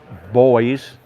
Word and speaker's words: Boys: Okay, this is a Boyse anti-tank gun. It's British, come out in the 1930s. He said boys, by the way. Boyse, B-O-Y-E-S, that's how it's spelled.